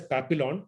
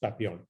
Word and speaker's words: Papillon: is p-a-p-i-l-l-i-o-n it is it is written as papillon but pronounced as papillon papillon means a butterfly